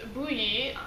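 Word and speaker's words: Bohea: i have today is bluey it's the one that spelled like bokya yeah it looks totally different than how it's pronounced it comes from the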